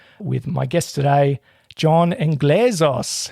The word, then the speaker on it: Englezos: Oh, look, you were leaning a little long on that middle syllable, but it's fine. We'll roll with Englezos. It's just Englezos.